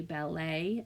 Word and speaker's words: ballet: ballet and buffet these two words end with the a sound so that does not match the pattern of et at the end of at the end of our um words at the final syllable so you're going to want to pay attention to that you hear a ballet and you hear buffet even though they're spelled with the e.t all right kiddos if